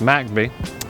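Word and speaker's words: McBee: we just crossed over MCB which forly is pronounced macby um that was named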